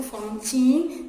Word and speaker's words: Fantine: A-N se prononce en, F-en, fantine. Fantine. Regardez bien, ici la lettre F s'écrit majuscule script. Pourquoi? Parce que Fantine, c'est un nom d'une femme.